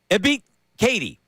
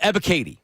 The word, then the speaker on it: Ebiketie: But Ebiketie. There you go. Arnold Ebiketie. Yeah. Ebiketie. Hello. I wrote it phonetically.